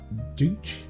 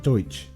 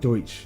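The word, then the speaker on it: Deutch: time okay so the director howard douche d-e-u-t-c-h i looked how to pronounce it deutsch howard deutsch and leah thompson fell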